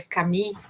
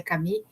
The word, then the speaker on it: Camus: Bom, então o Albert Camus, né, a gente se escreve Camus, mas é Camus, né, se pronuncia Camus, ele é um argelino, né, nasceu na Argélia, e viveu de 1913 a 1960, né?